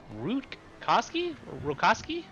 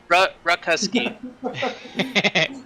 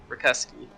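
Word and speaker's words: Rutkowski: Ruckusky. The T is silent, and the O is like a U. Ruckusky.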